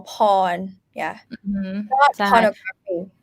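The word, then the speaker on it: พร: here as sarah just pronounced for you we pronounce this as pawn and you might get confused how how why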